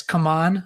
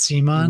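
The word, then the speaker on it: CMON: Gizmos by it's Come On, I guess now. I've been pronouncing it wrong forever. They issued a statement saying it's called Come On, not Simon.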